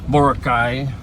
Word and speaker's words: Boracay: Like Boracay, or I don't know if I'm pronouncing Boracay. Boracay.